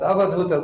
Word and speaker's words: Avadhuta: But Avadhuta, that word has 4 syllables: A, Va, Dhu, Ita, and Ta.